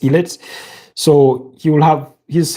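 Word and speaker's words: Ilett: So, Frank Ellet, not not Frank is a like pronounced the name. It's Ellet.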